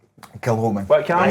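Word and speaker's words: Kilchoman: How do you say that? Kilhoman or Kilcoman? Kilhoman.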